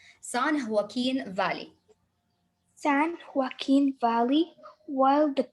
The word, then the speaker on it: San Joaquin: way through the sun because the j when it comes at the beginning we will pronounce it san joaquin valley san joaquin valley while